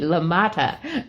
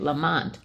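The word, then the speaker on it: LaMotta: it came to me lamata so but I was trying to make it Lamont no it's got It's got more syllables than that I don't think I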